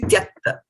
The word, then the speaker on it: tyakta: So And Mataji, it will be like tyak. tuak. This one will be, yeah, this is actually tyakta. Yeah. Tyakta, you see, half ta is there, then ya, and half k is there, and then ta.